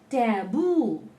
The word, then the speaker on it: taboo: So any word in English ending in double O, the last one, the last syllable will be told more strongly. Tattoo, taboo, things like that.